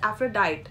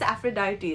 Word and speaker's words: Aphrodite: her spelling also it seems as if it's Aphrodite but actually it's Aphrodite it's pronounced as that and then you have aena